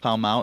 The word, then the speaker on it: Pall Mall: I look at it as there's a space on the Monopoly board in the UK called Pall Mall, and it's pronounced Pall Mall.